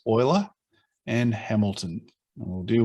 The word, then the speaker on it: Euler: Along with two down here, two friends, Euler, spelt Euler but pronounced Euler, and Hamilton.